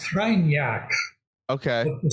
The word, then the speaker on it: Kreinar: It's pronounced Kreinar, Okay.